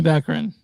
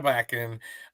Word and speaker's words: Baccarin: Maria Baccarin. Yeah, Maria Baccarin.